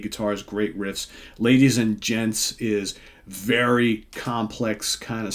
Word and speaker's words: Djents: So Forever Summer and Ladies and Gents, and that's spelled DJENTS. Get it? Gents.